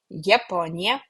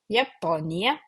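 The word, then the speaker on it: Japonija: We also pronounce it as Yot, Y, Japonia, Japonia, Japonas, Japonas, Japone, Japone.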